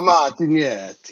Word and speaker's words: Martignetti: So Martinetti is how you pronounce it in the U.S., but outside of the U.S. and Italy, it would be more Martinetti with the little bit of a pronunciation, and of course, using your Oh, yeah.